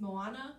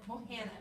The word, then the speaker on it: Mohana: Somebody correct me if I'm wrong, but I think it's Moana with red shoes. Mohana. Thank you. I knew I was going to say it wrong.